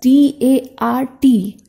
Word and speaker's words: dart: Which is spelled as D-A-R-T, but it is pronounced as D-A-A-T. It means R will remain silent.